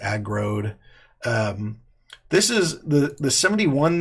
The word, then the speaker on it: aggroed: is my name aggro'd it's pronounced agroed rhymes with road like I rode a boat it's a growed this is the the